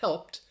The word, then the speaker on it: helped: ed and hel well helped is pronounced with a t so in general there's